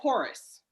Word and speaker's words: Horice: Eric Horace, correct? Am I Yes, ma'am. pronouncing Yes, yeah. that Eric name correct? Horice.